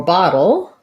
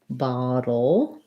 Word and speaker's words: bottle: with that dark l so for bottle think of it first of all the o you want to think about that as being an ah sound the t's are going to be like a d bottle and then we just have our dark l bottle so work on the